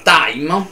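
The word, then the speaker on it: thyme: ho parlato dei omofoni, la parola time, che si scrive T-H-Y-M-E, significa timo. Poiché l'H in questo caso è muta, quindi il TH, come in thailandese, in Thai, non si pronuncia, diventa un omofono della parola tempo, time.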